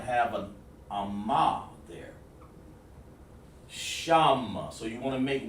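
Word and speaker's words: שם: sham which means names it's pronounced like this sham shah well let's put it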